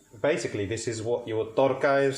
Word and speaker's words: tarka: Basically, this is what your torka is. So when you see torka or tarka, as it's spelled in English, torka is basically your